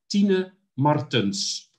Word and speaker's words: Tina Martens: Because apparently we're pronouncing Tina. It incorrectly. Okay. Tina Martin, she said, Gerard, will you learn them how to pronounce my name? Okay? That is Tina Martens.